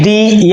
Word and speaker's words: the: ये आपने सुना होगा कि टी एच ई दी या टी एच ई दा इसमें कौन सा सही है?